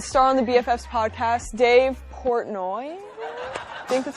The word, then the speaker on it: Dave Portnoy: So it's Dave Portnoy. Yeah, you butchered it on purpose because I say your last name's wrong, right?